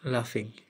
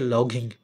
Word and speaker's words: laughing: লাফিং, কিন্তু লেখা হয়েছে লগিং। লগিং লিখবে না, একটু লাফিং উচ্চারণ হয়। কি উচ্চারণ হয়? লাফিং।